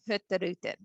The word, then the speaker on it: Hurtigruten: And, I don't personally think I do it justice, but they actually pronounce our name Hurtigruten. It just nicely flows and rolls off the tongue.